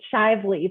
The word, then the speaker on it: Shively: it's Shively, but that was fine. I say it rhymes with lively, so that people remember it's a hard one to pronounce, and I'm really excited to be here.